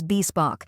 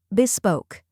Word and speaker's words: bespoke: pronounce it with confidence the correct pronunciation is bebok let's break it down first we have Beck which sounds like the Buy in bit next is Spock which rhymes with broke and is stressed now let's put it